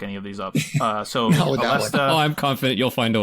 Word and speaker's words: Aleste: I call it Aleste because it sounds the closest to like the way they pronounce it in Japan, which was actually like Aresta with an R.